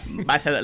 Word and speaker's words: Barcelona: Barcelona, like a lisp.